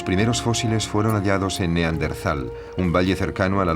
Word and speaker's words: Neandertal: A lo largo de los años el nombre se escribió y pronunció de diversas maneras, en razón de su origen alemán, si bien hoy en día se tiende a aceptar Neandertal, prescindiendo de la H que seguía a la T.